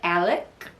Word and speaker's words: Alex: If you want to look it up, it's Merdaugh, and it's Alex, Alex, but down in South Kakalak, especially in the Low Country, we say Alec Murdaugh.